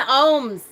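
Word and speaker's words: ogham: talk about the ohms which is spelled og oh ben said it right yes o-g-h-a-m that's a form of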